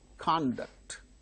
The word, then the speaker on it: conduct: But when they are used as verbs, the second syllables are stressed. For instance, conduct, conduct, conduct, conduct, verb, conduct, that is verb, conduct is noun.